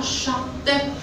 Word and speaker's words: chatte: Pour prononcer la lettre T, deuxième mot, on dit la chatte. On a prononcé T ou non?